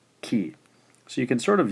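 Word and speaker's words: き: K and I, which gives us ki.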